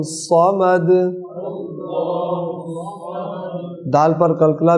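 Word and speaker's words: صَمَد: स्वाद को पुर करें, अल्लाहु समद।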